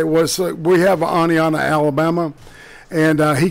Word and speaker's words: Oneonta: the inbreeding capital of the planet you said Oneonta correctly man I was surprised that's excellent man you know it's like I yeah I heard it did one time say was we have Oneonta Alabama and he called it one on top